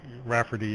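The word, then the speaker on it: O'Raifeartaigh: known as the irascible Rafferty I'll try spelling it hi GH Rafferty it's pronounced like like like Rafferty is a sort of an American Irish name just like Donahue and the gh is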